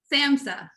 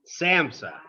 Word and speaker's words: SAMHSA: SAMHSA. SAMHSA. Yeah. Okay. H is silent, right? Yeah, just pretend it isn't there.